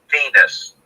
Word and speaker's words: Venis: And so Vince McMahon, he says to me on the phone, okay, the character's name is Val Venus. The last name is spelled Venis.